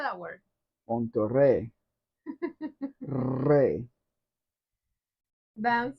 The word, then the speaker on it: Monterrey: You're still mispronouncing that word. What word? Monterrey. I know there's two R's. Then why did you say with two R's?